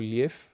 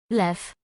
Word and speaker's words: lew: Lion or liew. Lew. Lew. I keep accidentally inserting Russian into Polish pronunciation.